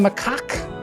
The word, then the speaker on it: macaque: Only the Tibetan macaque. That's how you say it, macaque.